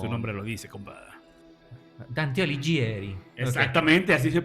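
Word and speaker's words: Dante Alighieri: Dante Aligieri. Exactamente. Así se pronuncia.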